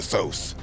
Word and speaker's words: Thoth: And one of the scribes was Jehuti, later changed to Thoth, pronounced Tot if you're feeling kind of arrogant, and then later was adopted as Hermes.